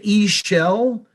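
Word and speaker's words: Ixchel: it's um yeah they they say e shell it's yeah but it's spelled i-x-c-h-e-l right thank you thank you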